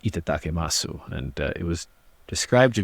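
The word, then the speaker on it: いただきます: In Japan, there's a word called that I believe it's pronounced itatakemasu, and it was described to me as a saying that's commonly used like right before eating.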